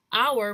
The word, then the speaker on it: hour: Now hour, which is referring to the time, hour begins with H. H is a consonant, it's not a vowel, but the pronunciation of the word hour has a vowel sound.